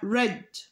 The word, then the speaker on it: read: نفسها زي الباست ولكن بعض الافعال تانيه بتكون نفس الكتابه ولكن النطق بتاعها بتكون مختلف زي مثلا كلمه read يقرا هتبقى رد اوكي طيب تعالوا نشوف